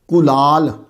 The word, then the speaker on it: کُلال: کلال، پہلے تلفظ پہ غور کر لیں آپ۔ چھوٹی کاف کے ساتھ ہے، چھوٹی کاف کو اصطلاح میں القاف المعارہ بھی کہتے ہیں۔ چھوٹی کاف کلال، اصل تلفظ جو ہے وہ کاف پہ پیش ہے۔ کچھ لوگوں کو میں